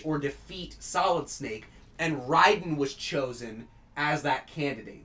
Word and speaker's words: Raiden: Okay, Raiden. Not Raiden. Raiden is the god of lightning. You're the protector of Earthrealm. Are they not? Isn't it spelled the same way?